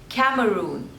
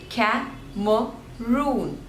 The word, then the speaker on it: Cameroon: next one is Cameroon Cameroon so again there are three syllables and the stress is on the third one Cameroon Cameroon Cameroon next is